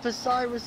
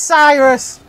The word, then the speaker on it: Cyrus: Oh, me and Posiris are going wheel to wheel. It's not Posiris, it's just Cyrus.